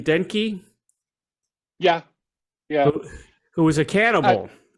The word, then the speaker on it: Denke: Do you pronounce his name Denke?